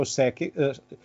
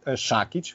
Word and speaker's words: Šakić: Maybe the biggest one is Joe Sakic. You always say Sakic. I know that Americans say Sakic. It should be Šakić from Croatian, but I know that he Americanized his last name.